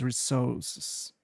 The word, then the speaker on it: resources: Also, with the word resources, make sure the re part is clear and the emphasis is on the first syllable.